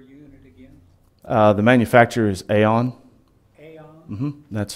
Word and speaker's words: AAON: The manufacturer is Aon. Aon? That's spelled AAON.